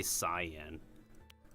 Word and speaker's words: cyan: Is it cyan or is it cien? Cien is more of the Japanese pronunciation. English they mostly say cyan.